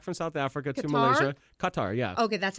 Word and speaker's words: Qatar: I flew back from South Africa to Malaysia Qatar yeah okay that's how you say it I say Qatar sometimes they say Kar sometimes they say qar whatever they use a